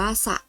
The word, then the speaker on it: สระ: เสียง อย่าง ไร คะ อ่าน ออก เสียง โดย ที่ สอ เสือ และ รอ เรือ ไม่ ต้อง กล้ำ กัน นะ คะ จะ อ่าน ออก เสียง